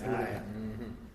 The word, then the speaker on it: Jeconiah: It's Jeconiah.